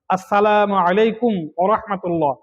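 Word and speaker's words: السلام عليكم ورحمة الله: সালামের উচ্চারণ সঠিকভাবে করা জরুরি। আসসালামু আলাইকুম, সালামু আলাইকুম, আসসালামু আলাইকুম, সালামু আলাইকুম ইত্যাদি বলা গুনাহ। স্পষ্ট করে বলতে হবে আসসালামু আলাইকুম ওয়া রাহমাতুল্লাহ।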